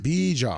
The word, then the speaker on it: Bijan: Bijan. It's like Dijon mustard, but Bijan.